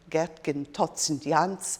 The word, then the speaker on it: Geertgen Sint Jans: by an artist called Geertgen Sint Jans. Now that's my English pronunciation of it. The Dutch pronounce it differently because in fact he